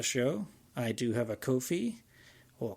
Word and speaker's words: Ko-fi: If you enjoyed this episode and would like to support the show, I do have a Ko-fi, or coffee, depending on how you say it, K-O-F-I, and that's /Alex C.